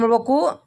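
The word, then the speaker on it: mind: ಎಲ್ ಡಿ ಬಂದ ಅಲ್ಲಿ ಐ ಗೆ ಏನ್ ಮಾಡಬೇಕು ಐ ಅನ್ಬೇಕು ಐಕ ಐ ಐ ನೋಡು ಮೈಂಡ್ ಮೈಂಡ್ ಚೈಲ್ಡ್ ಐಲ್ಡ್ ಬರುತ್ತೆ ಐ ಗೆ ಏನಂತದ್ದು ಐ ಐ ಉಚ್ಚಾರ ಮಾಡಬೇಕು ಅಲ್ಲಿ ಎನ್ ಡಿ ಎಲ್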